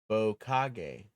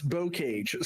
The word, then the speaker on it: Bocage: Yes, it's Bokage. Okay, it's not. It's Bocage.